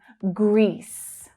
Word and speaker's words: Greece: So we have one long sound of the vowel sound here because there is just one syllable. Greece, E, Greece, Greece. The final S consonant sound.